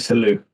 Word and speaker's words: Salut: Salou. Mr. Salou. Cool. The way he frames it is slight French, so it's spelled Salut.